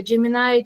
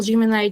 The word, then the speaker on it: Gemini: Осы жерде айтайын дегенім, мысалға Gemini'ді кейбіреуі Gemini деп те айтады, және ол америкалық жаңа произношениемен ол Gemini деп айтылады, ал британдықпен Gemini деп екеуі, яғни дұрыс екі несіде версиясы дұрыс болып есептеледі. Енді осы жерде мен Canva